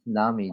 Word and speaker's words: Nami: It's Nami, dude. Why are you Dude, pronouncing these why are champions you so coming weirdly?